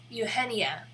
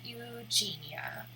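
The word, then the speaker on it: Eugenie: But for some reason, the zoo says Eugenia, which is wrong. I mean, it's not wrong. It is the correct pronunciation of that name. But if they were naming the elephant after the royal princess, then it's wrong because she's Eugenia, not Eugenia.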